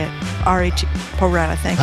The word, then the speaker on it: Pro Rata: I always mispronounce this. How do you say it? R-A-T, Pro Rata, thank you.